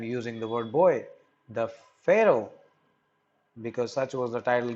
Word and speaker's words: Pharaoh: AR o ra H for a Oh in American accent it is called for a Oh in British it is called Pharaoh so we would be pronouncing it as Pharaoh so the boy King